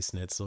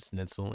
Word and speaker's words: Schnitzel: when I would say schnitzel because I pronounce it schnitzel and he hates it because I'm not saying Schnitzel. schnitzel. Schnit. Schnitzel. I'm not saying the Schnitzel. schnit. I just say snit.